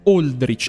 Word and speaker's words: Aldrich: La pronuncia corretta è "Oldrich".